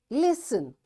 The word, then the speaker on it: listen: Listen, passen. Castle, often, whistle, soften, hasten, bustle, and gormy. In all these words, letter T is silent.